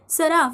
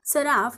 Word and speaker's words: सराफ: इथे एफ लिहून घेतला फ हा शब्दात शेवटी आहे आणि शेवटी अ चा उच्चार होत नाही म्हणून आपण एफ च्या पुढे ए लिहिणार नाही मग सराफचं स्पेलिंग काय तयार झालं